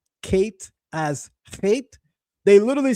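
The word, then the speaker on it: ח: I think he's making it clear that original One West teachers did in fact teach that the letter Kate is pronounced Kate, right?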